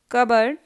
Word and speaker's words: cupboard: Cupboard.